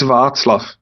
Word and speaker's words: Václav: No, it's Václav. There is no K.